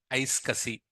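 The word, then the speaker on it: iSCSI: what is the one we call say that ice Cassi so just habitate so whenever you see this kind of protocol we pronounce this as ice cussi so don't worry about this protocol and your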